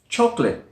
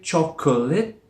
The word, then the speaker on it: chocolate: There is a schwa sound in there which is dropped. We don't say chocolate with 3 syllables. We only say it with 2.